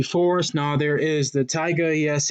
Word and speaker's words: taiga: Now, there is the taiga. Yes, it is pronounced taiga like the rapper, and no, it is not Rack City.